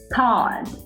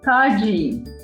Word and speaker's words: Todd: His name was Todd. And when you pronounce the name Todd, people will say Todgy.